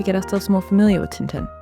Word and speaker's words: Tintin: ourselves more familiar with Tinten or Tantan as originally pronounced in Belgium.